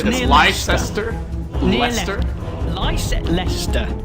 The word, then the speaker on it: Leicester: Leicester, it's pronounced.